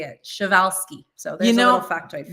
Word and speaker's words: Przewalski: And if you guys look at how the word is spelled, it's P-R-Z-E-W-A-L-S-K-I, I believe. And it's the last wild herd of horses that exists. But I had to look up how to say it. Przewalski.